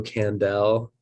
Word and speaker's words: Kandel: media platforms at candel um k-n-d-e-l but it's pronounced like howie mandel it's the best way